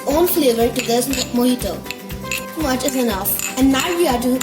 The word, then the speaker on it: mojito: Cuba is Spanish, and in Spanish, J is pronounced as H.